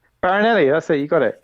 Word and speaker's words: Farinelli: Farinelli. Farinelli.